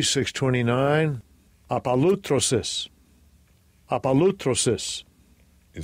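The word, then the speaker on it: ἀπολύτρωσις: The pronunciation in the Strong's G. Strong's G, 629, apalutrosis, apalutrosis.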